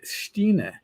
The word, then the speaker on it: Stein: But my real last name is pronounced Stine, but it looks like Stein. I've been called Stein my whole life, or Steiny, or Steeny, or Stainy, and I just whatever.